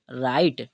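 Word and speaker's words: right: हम बनाते हैं ई जी एच यहां पर हमें जी एच दिख रहा है वो क्या रहेगा साइलेंट रहेगा ठीक है इसे और बात करें टी की तो टी से ट तो इसे हम क्या पढ़ेंगे राइट ठीक है तो राइट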